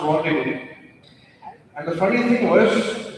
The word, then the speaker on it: rendezvous: Yeah, but it's pronounced rendezvous.